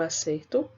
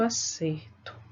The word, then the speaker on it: acerto: né eu pego acertar então escuta é a pronúncia o acerto e acerto acerto ea certo eu tenho diferença tem então observe que